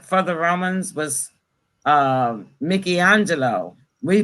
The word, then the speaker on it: Michelangelo: the romans was uh mickey angelo we pronounce it as michelangelo but it's uh his name he's italian and it's really pronounced mickey angelo okay and this is